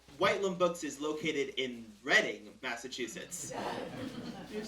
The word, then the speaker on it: Reading: if I may, Whitelum Books is located in Reading, Massachusetts. Is that so? Skippy, doesn't this say reading Massachusetts? It certainly does, Mr. Keely. Again, if if I may say, it's spelled like reading, but it's pronounced reading.